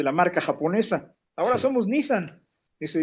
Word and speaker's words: Nissan: Era la marca Nissan. Todos decimos Nissan, pero se pronuncia Nissan.